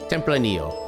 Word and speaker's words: Tempranillo: So Tempranillo would be the proper way to pronounce it when I'm actually prepared to say it the right way. Tempranillo.